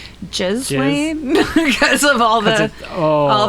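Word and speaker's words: Ghislaine: If you think about it, this is how I remember how to pronounce her name, Jiz Lane, because of all the all the essay.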